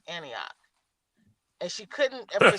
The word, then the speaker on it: Antioch: there from uh Apaloosus, she could not pronounce Antioch. She called it Anatui. Yes, sir. Cuz it's spelled A N I T O C H. So, she was like, Anna, too. She were like, "No, it's Antioch."